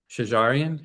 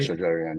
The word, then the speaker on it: Shajarian: The first one you you share was the Muhammad Resa Sharian. How is that pronunciation right? Shajarian.